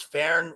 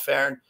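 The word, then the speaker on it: fearn: The Irish is fern, which the F is pronounced as V, and that the alder was a sacred tree.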